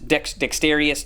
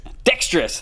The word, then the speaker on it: dexterous: if i'm a dexterous dexterious dextrous dextrous dextrous dexter dextrous thank you i'm adding an extra syllable in there i think um if